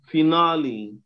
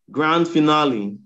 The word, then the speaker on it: finale: Another example will be finale. Finale. Finale? Finale, yes. Grand finale. Oh, is that the end of the world? Oh. Finale. Everybody make mistake then. Grand final. Finale. Wow. It's finale, okay?